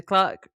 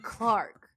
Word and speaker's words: clerk: Do you say clerk or clerk in America? Clerk. The clerk reads the newspaper behind the counter. Laura, why? It's spelled CLERK. Why are you saying Clark? I don't know. Why do you do that? It doesn't make any sense.